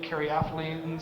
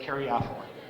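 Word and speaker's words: caryophyllene: ethylene some people say Carrie ethylene some people say Carrie Eileen you say potato I say potato and I can argue about how we pronounce it I pronounce it Carrie offal the the SAS code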